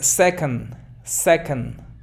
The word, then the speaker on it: second: No digas second ni second, porque a veces como no es second, a veces tienden a pronunciar second, pero no es second, es una schwa. Allí antes de nd es schwa.